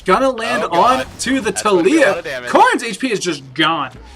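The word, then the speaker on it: Taliyah: Talia?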